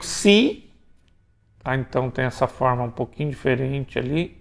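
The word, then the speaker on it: ξ: Abaixo do nu tem o xi, tá?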